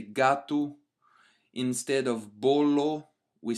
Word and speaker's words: bolo: And our last noun for the day is the word for cake, which is pronounced as bolo. Bolo in Portuguese, and it's a masculine noun.